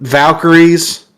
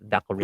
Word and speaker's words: Valkyrie: he pronounce is he valky valky some people pronounce it wrong it's called Valkyrie not Valkyrie well I think when they say it valky that's because they're wanting to say valky is